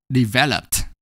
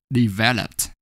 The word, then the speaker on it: developed: For example, the base form develop ends in a vowel O followed by a single consonant P, and the last syllable lup is not stressed.